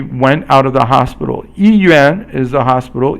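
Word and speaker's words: 医院: 医院 is the hospital. 医 is first tone, and yuan is fourth tone.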